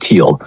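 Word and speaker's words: Thiel: Peter Theal, pronounced Teal, is the PayPal club's heavy hitter.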